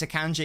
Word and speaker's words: Akanji: Yeah, as I say, I really think if this Akanji experiment can just die right now, that would be great. Because that's how it's pronounced.